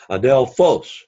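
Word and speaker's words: ἀδελφός: syllable or to be the accent is on the last syllable Adele folks Adele folks then you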